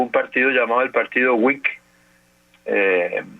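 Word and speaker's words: Whig: siglo XIX hubo un partido llamado el partido wick eh W h i G se escribe wick party que que tuvo bastante presencia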